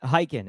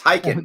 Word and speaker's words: Khaykin: Khaykin. It's a silent K in the beginning of my last name. I was testing you. You got it right. Well done. Yes, Khaykin.